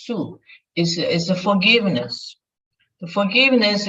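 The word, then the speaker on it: 恕: In Chinese pronunciation is su, is the forgiveness.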